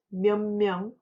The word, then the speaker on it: 몇 명: Hãy kiểm tra cách phát âm. Nhìn vào '몇'. Âm đại diện của 'ㅊ' là [ㄷ]. Và khi âm [ㄷ] này gặp phụ âm 'ㅁ', nó được đồng hóa với âm mũi tương tự và được phát âm là [ㄴ]. Vì vậy, chúng ta nên nói cho âm thanh dễ nghe và nhẹ nhàng.